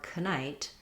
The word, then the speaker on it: knight: Another example is the KN combination. We no longer say knife or knight. We've lost the k sound at the beginning.